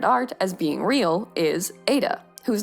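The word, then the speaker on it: Ai-Da: as being real is Ada whose name is actually a really cute little pun because she's named after Ada Lovelace but her name is spelled a i hyphen duh and that's just undeniably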